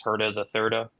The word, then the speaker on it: Herda the Thirda: Because I'm Albert William Herda the Third, so it's Herda the Thirda.